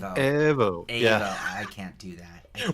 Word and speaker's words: Evo: You said it wrong. Oh, Evo. What? No. Evo. You got to say it in Italian. Evo.